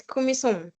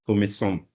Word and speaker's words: Kumison: What's the right pronunciation of your name? It's Kumison. Kumison.